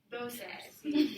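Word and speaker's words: doce: Dosi. Dose. That's one of the weird ones to pronounce because it doesn't look exactly how you think it's pronounced.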